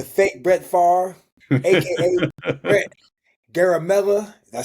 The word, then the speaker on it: Garamella: and I'm here with my boy Brett, aka the fake Brett Favre, aka Brett Garamella.